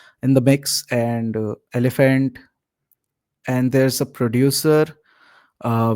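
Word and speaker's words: Elbhnt: But yeah, I mean I'm pronouncing him as elephant. I don't know the spelling. Wait, let me like let me check. Let me double check. Yeah, it's E LB H NT elephant.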